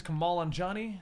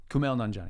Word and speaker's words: Kumail Nanjiani: I think his name is Kamal Nanjiani, the guy who got ripped for Eternals. Kumail Nanjiani. Yeah. I can't pronounce anything, even English, so no, that's not.